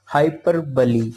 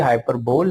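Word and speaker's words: hyperbole: Next جو ہے وہ ہے ہائپر بلی. اس کا جو تلفظ ہے، پروننسیشن ہے، وہ ہائپر بلی ہے. لکھا یہ ہائپر بول ہے لیکن جو پروننسیشن ہے ہائپر بلی.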